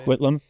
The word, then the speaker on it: Coquitlam: And I think I'll be in Port Coquitlam. Is that how you say it? Coquitlam?